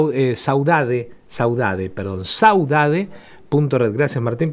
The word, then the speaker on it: saudade: Ana Ana Paula eh Ocampo, fotógrafa, miembra miembro de la red Sausade. Eh, y bueno, vuelvo al mismo, el Instagram, Sausade. Sausade, así como suena. sausade. E eh Saudade Saudade, perdón, saudade.